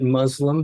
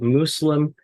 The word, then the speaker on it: Muslim: Muslim don't pronounce it Muslim because that's close to an Arabic swear word pronounce it Muslim using the S sound rather than the z sound so it's not close